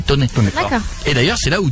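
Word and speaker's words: Thônex: Tony, c'est à côté ça s'écrit Tonex mais ça se dit Toné.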